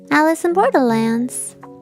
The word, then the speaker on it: Alice in Borderland: Alice in Borderlands? Yes, did I say it wrong? Alice in Borderlands? Yeah, Alice in Borderland. Wonderlands. No, it's Borderland. It's Borderland.